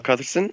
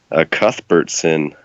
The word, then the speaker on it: Cuthbertson: to introduce yourself yeah I'm Kyle Carson uh-oh I mispronounced my last name that is atrocious Cuthbert sinned a lot of people have trouble with that one but I'm real fanatic